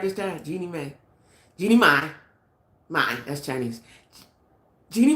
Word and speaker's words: Jeannie Mai: Now, Jeannie Mai, that's right, I said it right this time, Jeannie Mai.